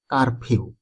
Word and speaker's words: কারফিউ: শব্দটির অর্থ হলো কারফিউ মানে কারফিউ শব্দটার শুদ্ধ উচ্চারণ হলো কারফিউ কারফিউ অর্থ হলো বাড়ির